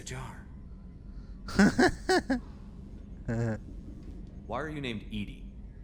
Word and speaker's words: EDI: why are you named Edie Edie is the phonetic pronunciation of EDI that is an acronym it's so funny when